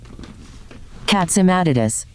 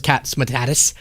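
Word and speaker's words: Catsimatidis: Let's see what uh the googs thinks this is pronounced as. Catsimatus. Yeah, cats. I checked. It said the same thing I did. Catsatus. I checked with the white house says catsmatus. With the white house and they had no objection.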